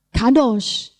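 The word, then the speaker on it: קדוש: Kalau di dalam Ulangan 23:17 bacanya Kedesh. Walaupun ini katanya sama, hurufnya sama, persis toh? Ini Kedesh bacanya. Dalam Keluaran 3 ayat 5 bacanya Kadosh.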